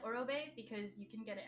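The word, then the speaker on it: Orobae: Orobe. It's O-R-O and then Bay, B-A-E.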